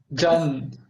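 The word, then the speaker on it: จันทร์: So it ends with N. Is there any hidden letter or omitted letter? Is that's a hidden letter, yeah, but in Thai the pronunciation end with N. Okay. So Jan.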